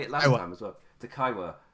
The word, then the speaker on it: Takaiwa: Takaiwa. It's the I that does me up. I want to say Takiwaiwa for some reason.